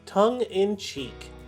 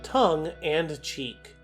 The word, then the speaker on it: tongue in cheek: helps relieve people stress the common mispronunciation is tongue and cheek this phrase comes from